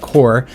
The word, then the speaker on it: corp: It should be pronounced core.